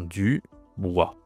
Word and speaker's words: Dubois: Donc on a Dubois, donc ça se prononce comme ça, hein, Dubois. Pareil, OI, c'est OI, ok?